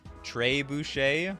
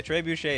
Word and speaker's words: trebuchet: the player equal to its power or something Trey Boucher okay whatever okay I don't know how to pronounce these words Dre Boucher the brimstone Tre Boucher okay trebuchet is some sort of French throwing Cannon yeah